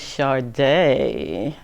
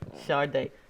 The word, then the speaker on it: Shadae: I'm here with Miss Shadae. Yes, Miss Shadae just got married, and I always say your married name wrong.